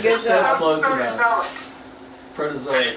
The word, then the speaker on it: Proterozoic: You're a good I tried to pronounce it. You did a good That's job. close enough. Proterozoic. Protozoic. Proterozoic.